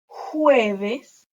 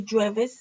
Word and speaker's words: jueves: So we have lunes, martes, miércoles, jueves. Remember the J sounds like an H. Don't say jueves.